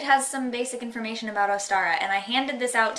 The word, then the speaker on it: Ostara: So inside here it says Ostara, pronounced Ostara, /Ostra/ Easter/Easter.